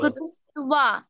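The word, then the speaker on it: কুতস্ত্বা: কুতুস্তুয়া না, কুতুস্তুয়া, ব, ব বলবে না, হ্যাঁ? এবার বলো। কুতুস্ত্বা, হ্যাঁ, ওয়া ওয়া ওয়া উচ্চারণ হবে ব থাকলে।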